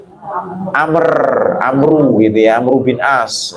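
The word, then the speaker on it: عمرو: Kalau ain mim ro wawu Amru gitu ya, Amru bin As.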